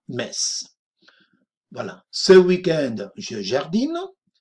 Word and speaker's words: Metz: Metz. Fijaros que se escribe M-E-T-Z, pero se dice Metz.